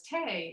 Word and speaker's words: tea: your green hysente and the fact that tea rhymes with bohei as tay shows that people said have a cup of tea just the way the irish do now and instead you're supposed